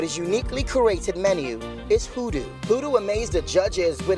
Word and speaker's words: Khudu: Praise I'm from edu States and we don't pronounce the case in Edo States hoodoo means hearts in my language so I remember